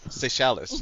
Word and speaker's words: Seychelles: Seychelles? Seychelles, yes. Yep. Seashells.